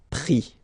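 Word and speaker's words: pris: And then prendre, so e-n-d-r-e, will give es, prix, okay. Same thing here, you don't pronounce the final s, okay.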